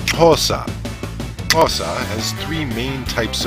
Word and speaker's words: Xhosa: Nelson Mandela, is pronounced Xhosa. Xhosa has three main types of clicks. The X for the click made at the side of the mouth, the Q for the